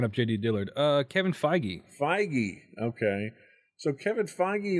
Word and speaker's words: Feige: determined and that's a Kevin how do you pronounce his name I was looking up JD Dillard Uh Kevin feige feige okay so Kevin feige is also getting